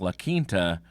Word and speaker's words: La Quinta: Not to be mean or anything, I can't even pronounce some English words myself, but it's actually pronounced La Quinta.